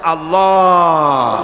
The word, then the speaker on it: আল্লাহ: আল্লাহ পাকের উচ্চারণটা হচ্ছে আল্লাহ পাকের নামের উচ্চারণ হচ্ছে আল্লাহ মুখটা একটু গোল হয়ে যাবে বলেন আল্লাহ আল্লাহ পৃথিবীতে বিভিন্ন জাতি